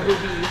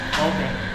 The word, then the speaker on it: ube: say ube today, not ubi. So much. I know, right? Wait, is it ubi or ube? Obe. Obe. Okay. Been saying it completely wrong. Obey. Obey. We've been saying ubi.